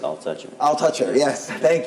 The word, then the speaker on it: Altucher: comedian like you know it's pronounced I'll touch it I'll touch it yes